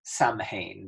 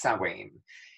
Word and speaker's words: Samhain: MH e I n so it looks like it's written Samhain but it's pronounced Swain and it's basically new